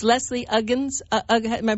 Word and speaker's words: Uggams: the most wonderful thing I took it's lesie ugens am I pronouncing that right Uggams lesie Uggams yes well she is just so precious and